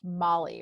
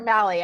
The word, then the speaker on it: Mali: And I realized your last name is pronounced Molly, right? It is. Yes. Okay. I was like, oh, Well Molly done. or Mally?